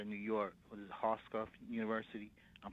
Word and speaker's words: Hofstra: Was it Hofstra University? I'm pronouncing it wrong. Hofstra, correct.